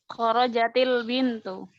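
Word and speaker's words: خرجت البنت: Kemudian ada kharajat al-bintu. Kharajat al-bintu. Jadi gimana? Kharajatil bintu. Kharajatil bintu. Ya, memang justru mayoritas ya. Mayoritas yang bersukun seperti ini ketika bertemu alif lam memang kasrah.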